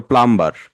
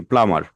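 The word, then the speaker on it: plumber: কিন্তু বলি যে প্লাম্বার, কিন্তু উচ্চারণটা হচ্ছে কি প্লামার।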